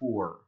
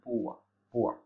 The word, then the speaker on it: poor: למשל במילה poor, ב-US English, באנגלית אמריקאית, הם כן מבטאים את ה-R בסוף, poor. באנגלית בריטית זה יותר בכיוון של poor.